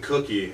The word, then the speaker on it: Kuckie: And if you guys don't know who I am, my name is Kuckie. And yes, you say it like cookie. K-U-C-K-I-E is how you spell it.